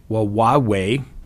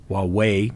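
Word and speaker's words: Wawawai: Of note, he explored Wawaway, W-A-W-A-W-A-I Park, in July of 2022, and this became his favorite location.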